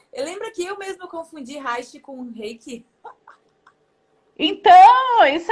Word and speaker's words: Reiki: O Reiki é R-E-I-K-I. E Reich, que é o sobrenome do William Reich, que é o pai da psicologia corporal, é R-E-I-C-H. Então, a pronúncia é a mesma.